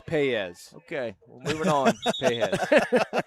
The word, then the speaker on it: Paez: Foul on Analee Pajes.